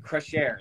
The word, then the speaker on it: Crescere: pronouncing your winery right um and so i pronounce it crush air is that right the share is correct yes